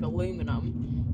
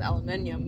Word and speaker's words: aluminium: Like aluminum, he says aluminium, but they spell it differently, so that one makes some kind of sense.